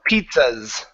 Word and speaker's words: pizzas: So if we don't add that T, it sort of sounds like you're saying pieces. All right, and we could get that mixed up with the word pieces without that T sound in there.